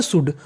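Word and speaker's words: should: एक और होती है एस एच ओ यू एल डी उसे पढ़ते हैं शुड कुड का मतलब सकना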